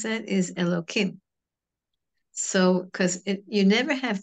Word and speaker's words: Elohim: when it's back to usually it's when there are two names of Hashem one after the other and the second is pronounced elokim sometimes it is you